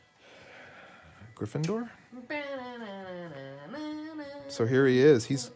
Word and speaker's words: Gryffindor: um soph is a gryffindor i always want to say gryffindor but then people say gryffindor which is it gryffindor so here he is